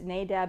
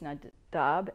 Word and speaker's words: Nadab: When Aaron's sons, we know them as Nadab and Abihu. That's not the way that the Hebrews pronounce it. It's Nadab and Abihu.